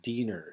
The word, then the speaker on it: Diener: This Diener is how that's pronounced. It's a German word that means helper or servant.